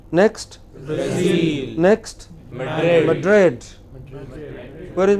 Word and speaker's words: Brazil: For no rhyme or reason, which are pronounced differently. What is the next? Berlin. Berlin. What is it? Berlin. Next. Brazil.